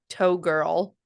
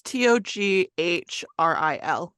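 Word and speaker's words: Toghrul: It sounded like you said toe girl, like Togrul. toe girl. Yeah, but it's like Togrul. It's Toghril.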